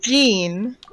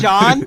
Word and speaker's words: Jean: John she has like Jean Jean yeah Jean I was like there's John J O hn there's a John no no not a John John it's like a it's like Jean I I don't know